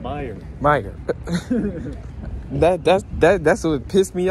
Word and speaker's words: Meijer: Nigga, the J is silent. Meijer.